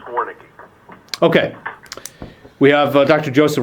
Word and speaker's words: Warnke: How is it pronounced? It is pronounced Warnke.